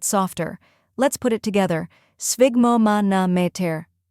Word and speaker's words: sphygmomanometer: First part, sphig, rhymes with twig. Second part, mo, like in moment.